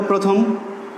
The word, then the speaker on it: প্রথম: আমরা বললাম যদি রফলাযুক্ত আদ্য অ হয় তাহলে সেই অয়ের উচ্চারণ হবে কিসের মতো? ও এর মতো। তাহলে তোমরা উচ্চারণ করে দেখো, প্রথম, প্রথম।